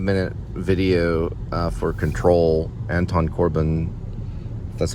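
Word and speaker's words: Anton Corbijn: this little five minute video uh for control Anton Corbin that's how you say his name with Sam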